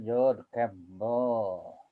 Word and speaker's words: George Campbell: Nah, bacanya George Campbell.